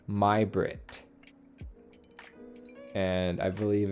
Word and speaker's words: Majbritt: to pronounce that today it's not magic it's pronounced my Brit and I believe it's